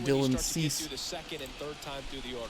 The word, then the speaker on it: Dylan Cease: becomes a little tough I was corrected in the pronunciation by the way Dylan cease so we'll see how